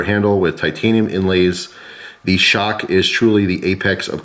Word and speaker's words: XOC: receive our new limited edition xoc pronounced shock there are only two